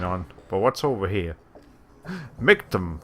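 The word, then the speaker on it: Michtam: The way you spell that is M-I-C-H-T-A-M. So, like, it almost sounds like you're spelling like milk. Milk tank.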